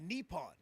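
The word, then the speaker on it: Nippon: of the baseball league so it is pronounced uh nepon so it's it's the nepon professional baseball you know I thought Nyon sounded a little bit more American so you know nepon sounds a little bit better yeah so Rick I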